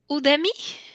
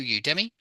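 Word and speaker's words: Udemy: find my website through Udi okay through Udi okay yeah excellent through Udi well you usly pronounce that one with a U at the start as in U Demi through through you Demi is it working now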